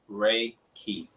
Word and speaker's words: Reiki: It's Reiki. Reiki. Like the sun rays and a key.